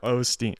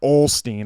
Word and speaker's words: Osteen: Googling on this Joel Osteen Olsteen I'll call him Olsteen just to piss everyone off yeah people kept commenting that on the video I didn't notice you were saying that I know I was saying it wrong the whole time but uh uh he